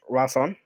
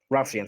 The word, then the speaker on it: Ralcian: The master of trade is Draz Ralson. Ralcian, sorry, not Ralson. Ralcian.